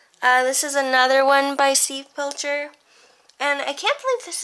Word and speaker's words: Steve Pilcher: This is done in pencil, and I think this is by, Steve Pilcher.